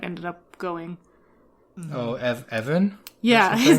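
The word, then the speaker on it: Even: up going oh EV Evan yeah his name was like it's like Greg the Jedi um it's spelled weird but yeah it's just like a really normal sounding name but I guess oh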